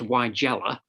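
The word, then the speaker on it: Weigela: six please chris uh sewage sewage yeah paul why galas not quite sure how you pronounce it don't you look at the wrong man stephen yeah apparently it's pronounced why jello like nigel oh is this we had this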